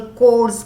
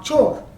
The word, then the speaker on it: chores: तो male female equality, ये नहीं कि लड़कियों को ही हाउस होल्ड कोर्स करना है, CHORES इज नॉट चोर, H is silent, it इज कोर, मतलब घर का काम, राइट?